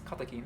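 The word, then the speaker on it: カテキン: Katekin in Japanese, katekin, how do you say it in English? In Japanese it's katekin, so I'm just going to say like the Japanese version, katekin.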